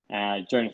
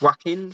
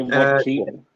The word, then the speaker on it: Joaquin: So, paved kept that streak of the fact that both him, Jonah Phoenix, and I probably butchered his name just then, and I think it's Joaquin Phoenix. yeah, Joaquin.